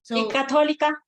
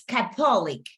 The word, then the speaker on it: Catholic: university university university okay catholica it's Catholic great so I'm gonna play it for you right now Catholic look Catholic Catholic right the stress war is in the first part the stress is in